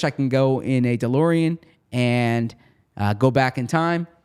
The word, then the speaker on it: DeLorean: You said DeLorean. And it's? DeLorean. So I said D and it's duh.